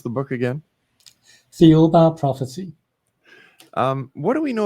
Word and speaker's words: Thiaoouba: And how do you pronounce the book again? Thiaoouba Prophecy.